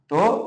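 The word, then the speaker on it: ت: এখানে আমরা অনেকে ভুল করি ত উচ্চারণ করাতে, যেহেতু আমরা ত বলি, ঠোঁট গোল করে ফেলি। না, ঠোঁট গোল করা যাবে না।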